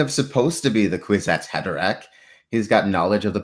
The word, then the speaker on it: Kwisatz Haderach: How would Team Westeros deal with Kwisatz Haderach? I'm probably pronouncing that terribly.